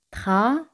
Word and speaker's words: travailler: Travailler. Aquí y el se pronuncian como Y española. Ye.